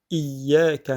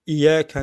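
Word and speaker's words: إِيَّاكَ: On dit iyyaka na'budu parce que c'est plus facile. Et dire iyyaka na'budu wa iyyaka nasta'in. Il faut faire l'effort de bien prononcer le ya mushaddada. Donc iyyaka, donc le i, c'est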